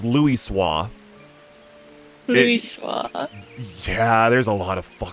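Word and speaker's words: Louisoix: this name oh okay it's supposed to be like French it's Louis SWA yeah there's a lot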